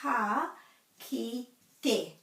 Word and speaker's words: ka kite: So the farewell, which is often mispronounced, very often mispronounced, is ka, ki, te. So again, this isn't te, it's te.